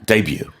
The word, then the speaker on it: debut: 자, 다시 한번 헷갈릴 수 있으니까 영어식으로는 이 단어 어떻게 발음한다고요? Debut. debut 이렇게 발음합니다.